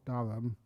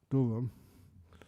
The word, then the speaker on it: Durham: the town of Durham I pronounced that properly it's not called darum Durham the pronunciation is much different so when I was